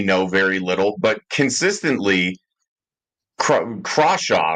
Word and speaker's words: Crawshaw: And obviously, the only thing that we know right now is that we know very little, but consistently, Crawshaw, right? Am I pronouncing that Oh correctly?